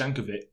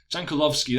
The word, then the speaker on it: Jankulovski: Jankulovski, that's how you pronounce it, tries to find Cafu at the back post, who tackles his man, and it falls to Inzaghi very kindly there.